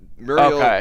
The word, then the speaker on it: Muriel: that muriel is from courage the cowardly dog muriel was the name of the the grandmother and they pronounced it muriel okay how i like i